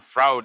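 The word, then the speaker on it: Froude: but from his disciple Fraud, also a great historian. To add to the fun, Fraud is pronounced just the way Keanu Reeves says Freud in Bill and Ted's Excellent Adventure.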